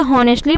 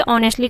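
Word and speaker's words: honestly: देखिए बहुत लोग इसे हॉनेस्टली पढ़ते हैं, तो हॉनेस्टली मत पढ़िएगा, इसमें एच साइलेंट है, इसलिए ऑनेस्टली का यूज हम करते हैं।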